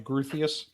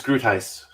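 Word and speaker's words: Groothuis: more information you know in my head i've always pronounced his name gruthius oh no it's it's groot heist and uh don't call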